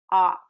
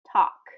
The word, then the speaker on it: talk: So in the word talk, it really is talk, talk. So we're not getting that L any weight there or any pronunciation, and really that A, it's kind of an an O sound.